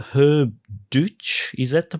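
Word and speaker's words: Deutsch: So uh around 63 your dad met a um a musician called Herb Duch. Is that the pronunciation? Deout that's the pronunciation.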